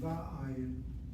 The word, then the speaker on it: va'ayin: on the first syllable, the vav should be pointed with a kamatz. Should be va'ayin, va'ayin.